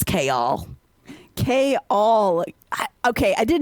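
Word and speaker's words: Chaol: editor was right because no one can pronounce kal at all but here you've learned it's cha k all okay I did not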